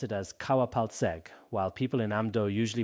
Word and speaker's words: Paltseg: Later on, translators like Kawa Paltseg, also pronounced Kawa Hwalse in Amdo, translated it into Tibetan.